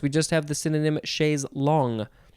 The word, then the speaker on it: chaise longue: Okay, so next we have chaise lounge. I'm guessing that this came straight from chaise long because the English people couldn't say long. They had to say lounge.